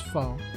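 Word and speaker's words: pho: out I know I I probably pronounced it wrong I'm pretty sure it's it's foe right but man yeah I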